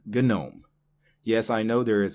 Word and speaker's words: GNOME: The G is silent. But this is not that word. This is an acronym.